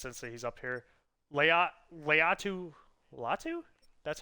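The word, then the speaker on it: Laiatu Latu: Leatu Latu, that's how you say his name.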